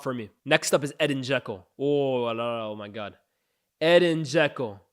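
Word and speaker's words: Edin Džeko: And by the way, I always used to say Dzeko. Bosnians, don't ask me how I know them. They rated my TikTok comments one day. It's pronounced Edin Dzeko.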